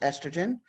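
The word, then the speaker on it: oestrogen: does here is certainly bearing the word Easter Jen pronounced estrogen it really doesn't matter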